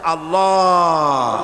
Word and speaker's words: আল্লাহ: আল্লাহ এই উচ্চারণটা আমাদের অনেকের হয় না, কেউ বলে না আল্লাহ। আল্লাহ পাকের উচ্চারণটা হচ্ছে, আল্লাহ পাকের নামের উচ্চারণ হচ্ছে আল্লাহ। মুখটা একটু গোল হয়ে যাবে, বলেন আল্লাহ আল্লাহ সুবহানাল্লাহ।